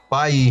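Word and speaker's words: Bailly: in bodies had some barley Bailey's by E I should say it properly by E has had some game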